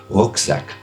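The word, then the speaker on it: Rucksack: in your karma roseac is by the way a German word you want to say it properly you would say roacak um uh yes you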